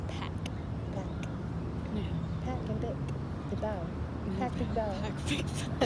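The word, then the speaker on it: Bich: Vic. Really? But it's spelled bitch. That's sick. Well, B-I-C-H, yeah.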